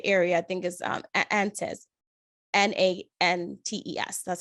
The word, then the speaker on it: Nantes: Nantes. That's how you spell it.